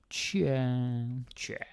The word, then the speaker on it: tja: So this next one is cha. I'm going to put a few more A's, sort of unofficial spelling, but just to make a point on how it's pronounced. Cha.